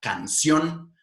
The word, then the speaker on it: canción: palabras esdrújulas como así las palabras agudas son las palabras que terminan con una prominencia central en la última sílaba por ejemplo la palabra canción corazón davín volvamos a